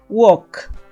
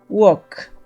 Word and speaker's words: walk: verbo regular el siguiente Walk Walk en este verbo no se pronuncia la l W Walk en pasado